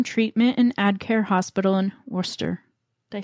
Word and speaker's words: Worcester: s t e r a lot of people that are not from the Northeast uh pronounce it Worchester like Worchester I had to ask sauce yeah I had to ask my husband when I moved here how to pronounce that cuz I always called it Worchester sh I think here